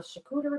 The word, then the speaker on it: charcuterie: I have, and I may change my mind because I did have some chocolate covered cherries on a charcuterie board.